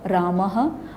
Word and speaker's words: रामः: जैसे अ के बाद है तो हह रामः, आ के बाद है